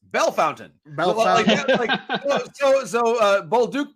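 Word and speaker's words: Bellefontaine: that one and then it's not belfantine it's bell fountain so so bold duke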